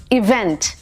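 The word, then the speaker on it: event: इवेंट ऑफ D year तो इसको stress इस towards D second half इवेंट इवेंट्स ने इवेंट जब कोई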